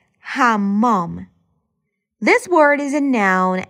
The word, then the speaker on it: حمام: حموم. Or better to say, حمام. This word is a noun and translates to bathroom. The main pronunciation is hammam, but it might change to hamum in conversational speech.